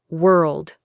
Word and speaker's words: world: World. World. It's that RL D sound at the end that is tough.